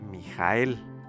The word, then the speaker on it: מִיכָאֵל: número 14 de tal manera que ahí leemos mijael ahora bien así es como se escribe en el hebreo pero quizás no te